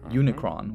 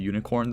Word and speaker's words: Unicron: the bookhead ep the occult him Unicron which apparently I've been pronouncing as the Unicorn this whole time West Side Doom CJ